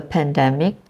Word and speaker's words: pandemic: viruses going around uh so pandemic again the stress is in the first syllable well I've heard p mic or pandemic which is a change of sound alog together I've heard people say pandemic okay but it is actually pandemic the stress is in the first syllable again pandemic Okay calendar is